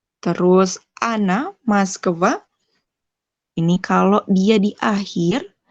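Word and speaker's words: Москва: Terus Ana, Moskva, ini kalau dia di akhir, terus ingat-ingat aja kalau misalnya ada O sebelum kata yang ditekan ini, dibacanya A. Ana, Ana, Moskva, Moskva, baca A.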